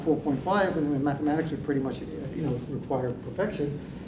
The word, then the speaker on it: mu: Again, I'm using the Greek letter mu here, mu, which is pronounced me in Greek, by the way, but it's like an M sound, and it's like a U sound, this sort of mixture.